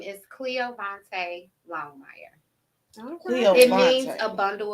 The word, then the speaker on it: Cleoyvonta: say your full name my full name is Cleo Vante longm it means a bundle of joy I